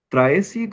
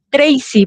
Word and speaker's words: Tracy: Vamos a escuchar a a Traesi. ¿Cómo se pronuncia tu nombre? Traesi, lo estoy pronunciando bien. Eh, profesor, buenas noches. Disculpe, ¿me escucha? Sí, sí, te escuchamos. Tracy, profesor. Tracy se pronuncia mi nombre.